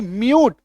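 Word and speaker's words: mute: एम यू टी ई म्यूट य में बड़ी उकार की मात्रा।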